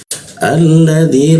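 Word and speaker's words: الذي: Bacanya ada huruf alif bertemu lam selalu dibaca al ya. Al alladzi lam mati lam bertasdid di bawah hidung dia alladzi dzi ujung lidahnya digigit ya dzi nah masuk ke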